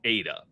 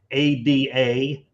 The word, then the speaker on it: ADA: got that out correctly it's pronounced Ada it is a formal name for ad Lovel it is not Ada but hey to each